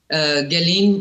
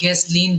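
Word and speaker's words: Ghislaine: देखिए उसकी जेफरी एस्टीन की जो कॉन्फिडेंट है जिसके जो अब जेल में है गैलीन और गैसलीन दो प्रोनाउंसिएशन है उसकी फ्रेंच औरत है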